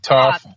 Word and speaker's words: Thoth: I say Thoth, but it's you can say Toth, Thoth. It's very it just depends on how you want to say it, really.